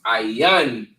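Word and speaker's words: עין: this is ayrian for I right and it's pronounced aan in the Hebrew right and it means I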